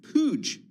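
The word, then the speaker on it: Puig: Uh Clara Lizaraga, Bloomberg Company's reporter on Estee Lauder talking to buy Pooge, that's the pronunciation, pooge to create a beauty giant.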